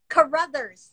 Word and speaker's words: Carruthers: her name is caruthers am i saying it right carrathers carruthers brothers brothers carruthers and um